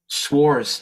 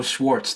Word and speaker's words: Schwarz: ahead all right f-a-o-s-c-h-w-a-r-z Schwarz no Schwartz the t's gone before the Z oh because I pronounced it with the T oh yeah and they